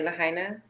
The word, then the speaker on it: Lahaina: babies, those little ones that went missing in Lahaina, that's how I say, I don't have to say it the way you say it. I apologize. Can you teach me how to correctly say Lahaina?